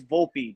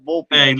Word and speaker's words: Volpe: with respect all right it's not vote all right it's Volpe baby it's vulpey listen he gets the respect